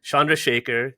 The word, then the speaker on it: Chandrasekhar: As always, I'm your host, founder at Digital Recruiter, and I am joined by a very special guest, Anita Chandrasekhar, the Global Head of Talent Strategy and Operations at Zapier.